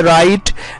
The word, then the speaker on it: write: तो जब आप प्रोनाउंस करते हैं तो शुरू में जो W आ रहा है, हम W की आवाज नहीं निकाल रहे हैं बल्कि डायरेक्टली रो से प्रोनाउंस कर रहे हैं। तो इस तरह हो जाता है राइट, WRITE, राइट।